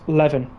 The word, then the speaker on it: Leven: Rex, it's pronounced leaven. Can I do some cool taunts? Request answered. Sounds like leaving.